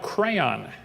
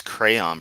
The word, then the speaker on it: crayon: Oh well, at least he pronounces crayon properly and doesn't say crayon or god forbid crown. How you get crowned from crayon is beyond me.